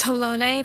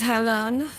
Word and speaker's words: Halone: Side note, I would just like to say that it is not pronounced Holone. People are just stupid and want to say it, but it is Halon. Yeah. There is no accent over the E.